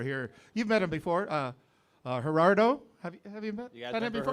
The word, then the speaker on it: Gerardo: es pronounced Gerardo.